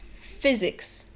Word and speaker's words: physics: The other one is that the Y sound is not a Y sound, but it's like a shortened I sound. And the third thing is that the S is pronounced like a Z. So put it all together and you have physics.